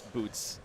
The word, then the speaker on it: Butts: It's Butts, but it's Boots is the correct way to say it, but everybody says Butts. It's like my name, my last name. So, it's Boots.